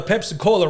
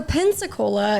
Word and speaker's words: Pensacola: So, Pensacola is is what it's called, but Pepsi Cola is way more fun. Oh, okay. I'm saying it wrong.